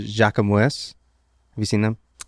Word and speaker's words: Jacquemus: It's actually called Jacquemus. Have you seen them? Jacquemus, actually.